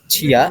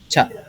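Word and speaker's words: ちゃ: Jadi bacanya bukan Cia ya, tapi menjadi Ca.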